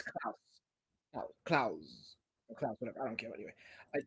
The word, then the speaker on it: Clowes: Yeah, his name is pronounced Claus. I I fact checked it. It's not closed. It's Claus.